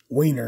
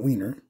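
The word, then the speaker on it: Wehner: City and we got John wayer wayer not wiener CU that would be wrong got Danny Jackson got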